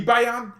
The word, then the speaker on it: Bayern: buyer yeah you know you know how germans say the bayonne right the bayan munchen yeah they say it like that gimmick would be bayern